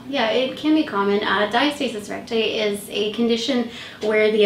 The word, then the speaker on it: diastasis recti: Diastasis recti. Perfect. Yes. Can you tell us a little bit about that? Because that's something that's common after pregnancy as well. Yeah, it can be common. Diastasis recti is a condition where the abdominal muscles, so